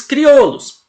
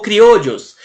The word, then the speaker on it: criollos: gente vai ter os criollos ou criou olhos né Lembrando que se escreve com dois elles Olha só c r